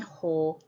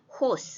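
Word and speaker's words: ὁ: 마르티스 가르무 에스틴 호 테오스 여기까지가 앞페이지죠. 하나님이 나의 증인이시기 때문이다 이랬는데 이제 호는 이게 거친 순표라서 오라고 안 읽고 호라고 읽어야 돼요.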